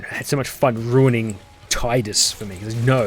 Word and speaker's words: Tidus: I've been pronouncing it Tidus for the longest time, and it's never pronounced